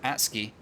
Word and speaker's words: Atsuki: spawning over at ruins i was trying to remember how to pronounce his name because he has changed it from macaulay and i did actually ask how you pronounce that and it is atsuki uh we've got one